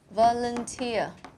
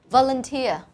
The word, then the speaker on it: volunteer: Cách đọc của từ này như sau, nó có 3 âm tiết và em sẽ nhấn vào âm tiết cuối cùng là âm tiết này, tia. Volunteer, volunteer.